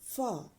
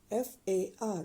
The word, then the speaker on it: far: father in Danish we will say it as far f a r far the next word we are about to